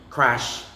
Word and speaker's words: crash: Now, the letter A, if you would notice, the letter A after the letter R is pronounced as eh.